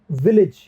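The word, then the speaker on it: village: विलेज में जो ए है ये ई का साउंड देगा।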